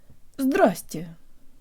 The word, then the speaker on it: здрасте: However, in something called relaxed speech, which we use with people we already know, but with whom we still speak more formally, we omit the vуй syllable.